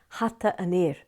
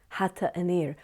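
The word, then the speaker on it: hata an fhir: But if we're going to say the man's hat, or the hat of the man, it's hata anir, hata anir.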